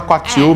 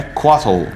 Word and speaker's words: Couatl: meio que usa, meio que todo mundo fala Quatil, mesmo estando errado. Mas a pronúncia que aparece no D&D Beyond, que eles têm o guia de pronúncia, é Quattle. Só que essa pronúncia... Mas é americana, é americanizada, né? É inglesada, né? Exato. Então também não tá certa. A pronúncia original é diferente de tudo isso. Mas a gente não vai tentar fazer essa pronúncia porque ela é bem complicada.